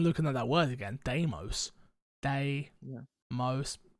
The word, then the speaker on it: Deimos: Deimos. Deimos. D. See, because D-E makes the D sound in my head, and then I-mos. Demos. Was how I'd say it more. If I was sounding it out phonetically.